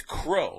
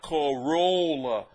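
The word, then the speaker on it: Crolla: pronouncing it right but it's crow like c r o w l l CA not Cora like Toyota I understand so keep your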